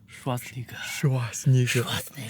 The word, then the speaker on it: Schwarzenegger: 辛格名字怎么读吗？Schwarzenegger，然后但实际上读的话，你可以读成 Schwarzenegger。Schwarz 在德国的德语是黑的意思。Schwarzenegger，哇，完蛋了，这种